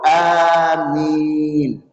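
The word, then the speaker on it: آمين: Jangan salah bacanya, Pak. Bu, ada yang baca amin? Ada yang baca amin yang benar. Amin. Jangan ditasdidkan mimnya. Amin.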